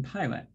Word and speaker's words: pilot: So that's PI says pi. In pilot. So that's an open syllable. And we can find open syllables in words. So if you look at that I in pilot, and if you know it's an open syllable, then you know how to pronounce that first I, and you can say the word pilot more easily.